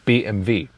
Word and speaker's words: BMW: BMV BMV BMW yeah because in Germany we say BMV so BMW is BMV there's also separate Episode